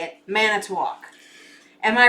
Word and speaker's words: Manitowoc: Kathy's from Matanawak. Now, how do you say that? Manitowoc. It's Manitowoc.